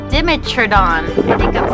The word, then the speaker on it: Dimetrodon: It's called a Dimetrodon.